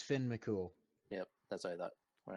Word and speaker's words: Finn McCool: more you're not coming through but yes it's Finn McCool yep that's I thought when I was looking